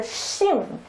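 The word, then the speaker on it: 心: So combined together is pronounced as a Xing.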